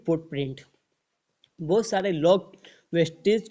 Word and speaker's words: Vestige: यहाँ पर wastage wastage नहीं है, वेस्टीज है। यहाँ पर आप स्पेलिंग पढ़ सकते हैं, VESTIGE, वेस्टीज। और वेस्टेज की स्पेलिंग अलग होती है, तो आप इसमें ध्यान रखिएगा।